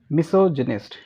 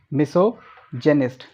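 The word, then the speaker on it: misogynist: Next है मिसोजिनिस्ट। इट इज़ मिसोजेनिस्ट। क्या pronunciation होगी? मिसोजिनिस्ट।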